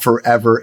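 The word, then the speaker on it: FRVR: personally so this is uh a company called Forever AI That's how you pronounce it f rvr Ai and vr.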